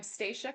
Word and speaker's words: Stacia: Well, I'm Staca. Best way to know how to pronounce my name is the train stops at the station.